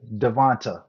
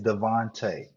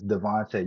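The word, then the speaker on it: DeVonta: talk about him because he says Devont Devont Smith is Devonte. I don't know what's so hard about that. It's Devonte. You can actually Google it how to properly say his name, but it bothers me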